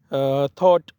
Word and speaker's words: thought: थॉट next word है, THOUGHT, यहाँ पे भी GH साइलेंट है।